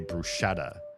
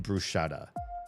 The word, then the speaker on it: bruschetta: When I heard Americans say bruschetta, I was like, there's no sh in brusetta. Where are you getting the sha from? If you look at how it's spelled, there's no sh in the word.